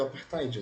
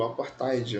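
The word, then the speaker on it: apartheid: Enfim, quando nós pensamos em segregação, vamos lembrar do apartide, né? O aparide, enfim, não interessa, né? A pronúncia não não importa muito. Esse th ele tem aquele som, né? Igual da letra feta, né?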